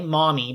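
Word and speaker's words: Mami: name is uh m-a-m-i mommy but it it's pronounced like mommy like you would call a maternal figure and of the different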